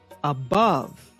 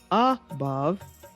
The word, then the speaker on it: above: second syllable for example it is correct to say above not above and it's correct to